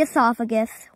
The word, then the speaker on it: esophagus: now come to the esophagus it's a large narrow tube and it rhymes with asparagus people who are claustrophobic